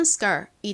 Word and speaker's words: skirt: 이렇게 S의 바로 뒤에 K가 오면요. 이 K는 좀 된 소리처럼 발음이 돼요. 그래서 skirt보다는 skirt 이렇게 거의 쌍기역처럼 발음이 납니다.